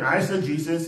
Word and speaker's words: eisegesis: i s i suggestions e-i-s-e-g-e-s-i-x that's s again I said Jesus is e-i-s-e g-e-s-i-s Esther Jesus is e x